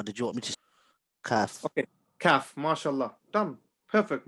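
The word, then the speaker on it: ك: Qaf, I make my mouth round. Kaf, I make it flat.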